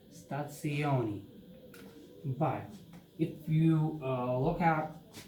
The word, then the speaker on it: stazione: It's not stazione. It's an Italian language word and it's pronounced as stazione, because this, what we are seeing as Z or Z, this one is TS, so it's stazione.